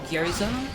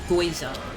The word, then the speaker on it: gyoza: multiple people like especially in school who would pronounce gyoza the Japanese food gyoza as goza. I remember arguing with someone in school who was so sure it's pronounced Goa and I was like are you can you read?